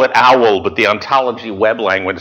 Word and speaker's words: OWL: why it's it's looks like w but it's pronounced owl so it's called the web ontology language owl